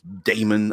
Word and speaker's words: daemon: summon a demon or daemon I guess it I think it's just still simply pronounced demon but yeah um living